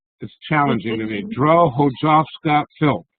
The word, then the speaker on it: Drohojowska-Philp: Drohojowska-Philp. How did I do? Exactly, except the J is pronounced as a Y. Drohojowska-Philp.